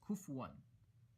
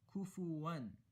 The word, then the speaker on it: كُفُوًا: see the dhamma, but a very common mistake is people pronounce this word as kufuwan. So they say, وَلَمْ يَكُنْ لَهُ كُفُوًا أَحَدٌ. Rather, it should be kufuwan.